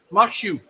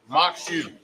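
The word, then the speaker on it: maque choux: How you pronounce that corn dish? Makshu. Makshu.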